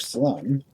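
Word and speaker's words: Salome: Proceeding on the theory that every knock's a boost, Dick Wickhall, 1877 to 1926, of Salem, rhymes with home, Arizona, population 100, put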